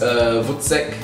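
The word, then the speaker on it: voetsek: All right, I think it's pronounced Vutsek.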